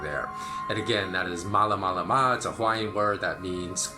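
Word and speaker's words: Malamalama: my next adventure and that is spelled exactly how it sounds except they're two A's in the first syllable so it's M double a la ma la ma mala mala ma okay so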